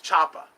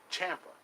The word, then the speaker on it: Ciampa: It should have been Chapa or something like that. That's Ciampa. That's how we know it. But it's spelled Siampa. Ciampa.